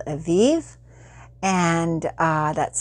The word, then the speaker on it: Evive: a smooth with a smoothie company it's called aviv and uh that's spelled e-v-i-v-e and it is so far from